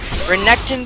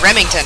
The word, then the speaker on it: Renekton: Renekton becomes Rivington, or no, Remington rather.